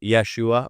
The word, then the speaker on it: Yeshua: the his it would actually be Joshua if we if we actually pronounced it like we transliterated it one to one from the Hebrew Yeshua or Yahosua.